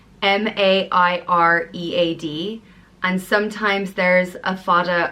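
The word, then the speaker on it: Mairéad: is great and it means pearl and it's pronounced mah rate right it's usually spelt ma IR EAD and sometimes there's a fada over the a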